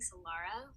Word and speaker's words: Solara: I'm saying Solara, but it's My whole Solera. family says Solara, so you say it how you want. There's Okay. no wrong way.